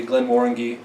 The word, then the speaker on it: Glenmorangie: listen to videos online people from Scotland will say Glenn Warren ghee Glen Warren G but we prefer not